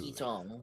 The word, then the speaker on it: Tiki Tong: Oh, that's what Tiki Tong. Of course, it rhymes with Kong.